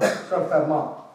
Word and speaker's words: Fermat: And Fermat, they're both French, that's why their names sound again like Descartes' name, like they pronounce different from Fermat, the T silent.